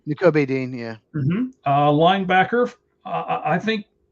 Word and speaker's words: Nakobe: Nakobe Dean, I think Nakobe is how you say his first right? N'Kobe Dean, yeah.